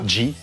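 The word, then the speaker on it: 痔: Et comment ça se prononce, les hémorroïdes G. G. Tout simplement, G. Tu D'accord.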